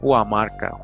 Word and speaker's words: Guamarca: it Guamarca, Guamarca, Gumarca, and pronounced it G, which does not exist with natives, like an H. So, Huamarca, Huamarca, which gives us a Hua, or saint, a word added to their sacred names.